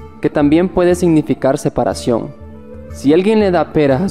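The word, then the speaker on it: 四: 3 el número 4 en china el número 4 se pronuncia si suena similar a la palabra muerte así que cualquier cosa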